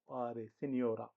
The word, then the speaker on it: signora: Signora spelled like Signora. Signora. GNO is always new. GN, new. Signora.